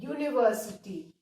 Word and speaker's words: university: तो आप देखो वाई, य वाला साउंड आ रहा है. यूनिवर्सिटी है ना, य मीन्स वाई.